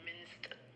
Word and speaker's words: minced: It's minced meat. Pronounce it ED, please.